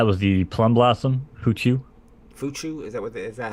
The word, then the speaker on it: Fuchu: Fuchu? Is that how you pronounce it?